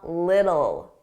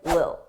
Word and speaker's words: little: Notice I didn't pronounce those T's. I pronounced them as soft D's a little.